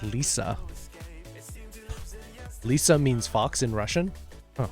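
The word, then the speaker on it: лиса: but again not a gamer platform oh it's pronounced Lisa Lisa means fox in Russian H see are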